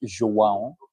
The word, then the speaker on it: João: I always said Joao Felix, but when I visited Portugal last summer, I heard that his name is pronounced João.